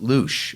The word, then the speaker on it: Luszcz: So yes, and it's pronounced Luche, okay?